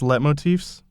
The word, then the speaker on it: leitmotifs: How do you pronounce leitmotifs?